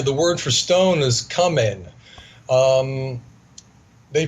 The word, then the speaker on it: kamen: In Bosnia, the word for stone is kamen. They pronounce the E, K-A-M-E-N. They pronounce the E like an A, so it's really kamen.